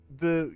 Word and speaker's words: Ye: lands funny funny sorry the Yi in Ye Olde these geese it's actually pronounced the that's just how it's pronounced it's just pronounced the